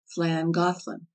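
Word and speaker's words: Llangollen: that the name of langolin one of the oldest towns on the D is pronounced flan gothland the Welsh LL being the equivalent of our THL the W which makes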